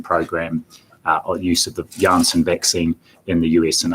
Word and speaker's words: Janssen: Likewise, and I understand the correct pronunciation is Janssen vaccine, one of the 4 we have, and there's a release that's come out today on that from MedSafe.